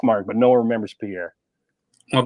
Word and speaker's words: Pierre: in the language but no one in South Dakota says Pierre we all say Pier including everybody uh that